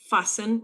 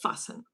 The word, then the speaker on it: fasten: Just fasten. Yes. And we write it with T, but we don't pronounce the T. The T is silent. Fasten.